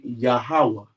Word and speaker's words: Yahuwah: right you don't have and then would be yahuwah that's how you pronounce these people I'm sorry